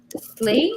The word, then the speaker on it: sleigh: Slay Slay yeah so it's as if you're saying s l a y but it's written SLE